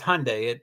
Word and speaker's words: Hyundai: Hyundai the American version the English version of Hyundai is Hyundai it rhymes with Sunday I do know over